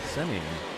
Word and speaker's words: Semien: Marcus Semien now.